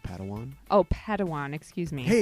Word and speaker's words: Padawan: Master Yoda assigned a Padawan to this bold Jedi. I believe it's pronounced Padawan.